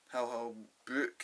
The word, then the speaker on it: Hal Holbrook: One guy gets killed, and the other guy that opened it, Hal Holbrook, is that how you pronounce it? Hal Holbrook, yeah.